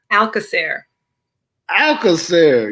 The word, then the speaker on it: Alcoser: say your last name one more time please alaer alair yes yes butchered that I'm glad I didn't try that